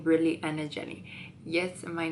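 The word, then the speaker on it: Anajely: Like, I'm like, no, it's Anna Jelly. And they're like, because it's actually spelled like on my social media, I spell it with double L because it's easier to pronounce.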